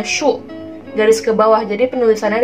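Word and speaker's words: 竖: Lalu untuk garis yang ke bawah itu dibacanya shu.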